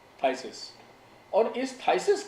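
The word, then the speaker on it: phthisis: उन्होंने लैटिन भाषा में इसको नाम दिया है थाइसिस, THISIS, PH साइलेंट है, थाइसिस।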